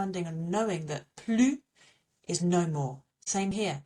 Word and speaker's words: plus: But for more and then an adjective, we do not pronounce the S either. So if I wanted to say more big, I would say plus grand, okay?